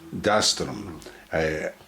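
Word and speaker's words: Dastirum: Dastrum. I've asked you to say that because I get the pronunciation wrong.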